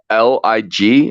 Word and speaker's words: Lig: question too is that l-i-g how do I pronounce how do I say your name sir like life is good that's Lig okay life is good